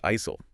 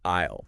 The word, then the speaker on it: aisle: But that S is it's completely silent. Right. You don't say isil, you say isleisle, like I'll see you later.